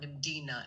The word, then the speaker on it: Mdina: And on that note, something very significant is that Malta's oldest capital city and is it pronounced Medina? Medina Medina.